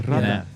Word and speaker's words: Radler: But you got to say it like with a purr. Yeah, Radler.